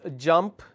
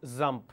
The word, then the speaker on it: jump: Now, there is a word which is jump. The person pronounces this as zump. Now, there is no word called zump, but it comes across as a wrong word.